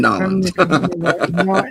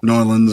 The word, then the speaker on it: New Orleans: From Nolans. New Orleans, New Orleans. Yeah. Yeah, Norlands or Nolans or however I it is you know.